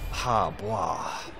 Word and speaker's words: He Bo: This one is for Hebo, or Ha-Bwa, as he's better pronounced. I believe that is the correct way to pronounce it.